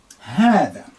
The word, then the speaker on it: هذا: هذا. Now, this is what you pronounce. This is what this sounds like. That's why in the transliteration, I will double A to say ha, هذا. That is the sound, and that's for masculine singular.